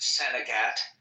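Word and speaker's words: St. Agatha: town in northern Maine on the map it says uh St Agatha but it's pronounced Sagat like the French oh right right you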